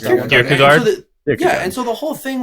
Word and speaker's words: Kierkegaard: How do you pronounce that? Kierkegaard.